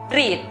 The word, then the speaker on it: read: es una sola sílaba, donde encontramos la E con la A juntas. La pronunciación correcta para la palabra leer es read.